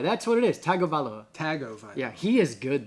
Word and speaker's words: Tagovailoa: Tagovailoa. That's what it is. Tagovailoa.